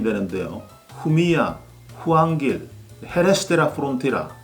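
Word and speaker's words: Jumilla: 이 스페인 와인 용어에서 특히 발음에 주의해야 할 부분은 바로 LL 두 개가 겹치지는 경우인데요. 이 경우에는 야라고 발음이 되죠. 후미야, 템프라니오, 파레야다처럼 LL이 두 개 겹치지는 경우에는 Y로 발음을 하시면 됩니다.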